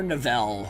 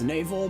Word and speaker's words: Navel: area the 4 is navel or Nivelle whatever the heck you want to pronounce it it's supposed to be pronounced navel but I've heard some